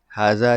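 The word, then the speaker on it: هذا: की नोट्स देखते हैं हाजा जो है इसको प्रोनाउंस किया जाता है हाज से बट इसको अलिफ नहीं लिखा जाता इसमें अरेबिक हैज नो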